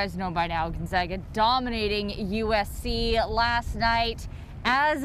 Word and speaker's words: Gonzaga: out of uh spokane washington what was it gonzaga gonzaga and you pronounce it correctly yeah not gonzaga or whatever